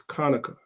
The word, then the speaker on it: Hanukkah: chapter seven verse 9 the word there is Konica which is how you say Hanukkah that's why I said